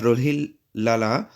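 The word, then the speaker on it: Rolihlahla: वो था नेल्सन अ रोहिल लाला Mandela okay इसमें एच साइलेंट है तो रोहेल लाला मंडेला ओके उनका बाय नाम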